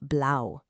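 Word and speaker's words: blau: Next we have blow. It's just like saying blouse but without the s sound at the end.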